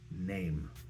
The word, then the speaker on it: name: That's where things get a little bit tricky uh, because there's a silent E on the end of NAM. Name.